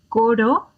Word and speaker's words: coro: Coro, corro.